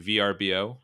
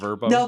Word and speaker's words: VRBO: VRBO. It's not No, Verbo. they say Vrbo. Oh, they do? Okay. See, I heard on a different podcast, VRBO. I always thought it was Verbo, so I just made myself